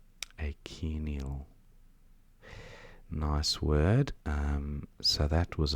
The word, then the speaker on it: achenial: Achenial, I think you pronounce it. So it's like ache with Nial at the end. Achenial.